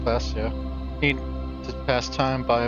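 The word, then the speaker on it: Klaasje: Classia is pronounced Classia.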